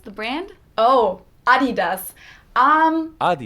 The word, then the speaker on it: Adidas: let's jump in hey have you seen my Adidas shoes your what shoes Adidas yeah um Adidas the brand oh Adidas um not sure maybe you've left them in